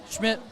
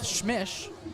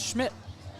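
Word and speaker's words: Schmich: Schmidt, not to be confused with Schmish, as it might look like his name is spelled, S-C-H-M-I-C-H, pronounced Schmidt.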